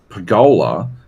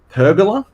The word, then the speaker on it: pergola: This dude pronounced Archimedes, which was extremely distracting, and Pergola as pergola, which I found out is actually how Americans pronounce it, which is heinous.